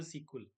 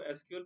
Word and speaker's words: SQL: इसका short form है एसक्यूएल और इसको प्रोनाउंस करते हैं सीक्वल। इसको एसक्यूएल प्रोनाउंस नहीं करते, इसको सीक्वल बोलते हैं।